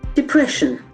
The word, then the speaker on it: depression: can be depression but the term depression acts and Falls the second syllable depression depression the state of